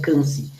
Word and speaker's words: Quincy: Quincy, vocês devem ter entendido, mas em francês se pronuncia Quincy.